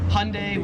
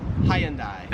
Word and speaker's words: Hyundai: Here they pronounce it as hyundai. Americans make it like two syllables like hyundai. Australians three syllables hyundai.